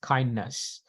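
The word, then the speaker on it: KINDNS: And but usually this is pronounced as kindness.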